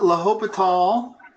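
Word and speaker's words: L'Hôpital: falls rule okay now hope at all rules it's spelled like Hospital okay pronounce Lobethal another thing you don't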